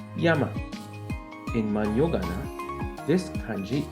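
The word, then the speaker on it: 山: this is a mountain it's sun in the Chinese reading or onion but in Japanese mountain is pronounced as Yama in man yogana this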